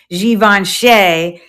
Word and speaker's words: Givenchy: Or I guess you could say it's pronounced Givenchy in like French.